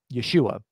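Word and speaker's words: ישוע: the same name um Yeshua that's that's how you would pronounce it in Hebrew uh so Jesus name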